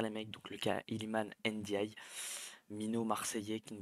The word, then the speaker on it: Iliman: On se retrouve aujourd'hui pour une toute nouvelle vidéo dans laquelle on va parler du cas Iliman, Iliman, c'est bien comme ça qu'on le prononce, Ndiaye, l'OM ou rien.